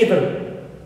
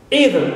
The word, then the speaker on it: either: One British and the other American, but for us both are correct pronunciations.